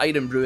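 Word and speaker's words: Irn-Bru: So if you guys don't know what Iron Brew is, guys, it's a soft drink that Scotland sells.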